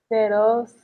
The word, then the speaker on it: Xerox: Xerox.